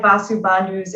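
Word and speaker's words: Vasubandhu: is author of inside the grass hut inside vasu bandu's yogacara and mindfulness and intimacy so welcome ben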